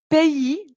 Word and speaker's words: pays: l'avoir aux pays bas donc pays vous voyez c'est un mot qui est parfois difficile à prononcer p é aux pays bas donc